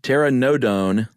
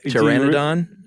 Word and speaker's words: Pteranodon: 130 ish but a Terra uh Terra nodone is that how you say it I uh Pteranodon that's what I would have gone with I like Tara nodone